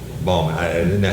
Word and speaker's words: Baughman: Sarah Bautman. Baughman. I didn't know how to say it. It's spelled B-A-U-G-H-A-M? B-A-U-G-H-M-A-N. Bautman. Bautman.